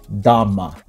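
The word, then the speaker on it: 大麻: In Chinese, this is pronounced Dhamma, but What's amazing, it still means weed.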